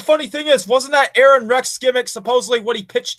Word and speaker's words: Aron Rex: And you didn't say it right. It's Aaron Rex! You have to sing his name because it's so beautiful.